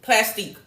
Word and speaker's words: Plastiq: Q as in Queen, Plastique. So it's spelled like plastic, but instead of the C, there's a Q at the end, okay?